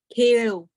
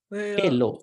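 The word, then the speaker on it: kheḷo: Kheo. Huh? Kheo. Kelo. This has to be L. Kelo.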